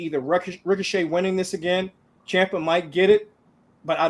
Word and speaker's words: Ciampa: I keep on saying his name wrong, but Ciampa.